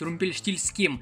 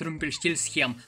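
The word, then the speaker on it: Румпельштильцхен: Да и мне уже удобнее говорить Румпельштильским, а не пытаться как-то язык ломать и говорить Румпельштильсхем.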